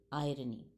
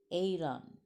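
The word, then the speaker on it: eiron: see what is the origin of the term irony the term irony has its roots in the greek common character aeron or iron it's spelled as e i r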